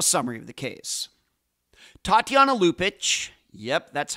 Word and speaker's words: Lupaca: and now a summary of the case Tatiana lupic yep that's how her last name is pronounced anounced was born in lvia when it